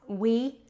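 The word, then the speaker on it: oui: jar which is uh o UI pronounce we which is yes in French according to my daughter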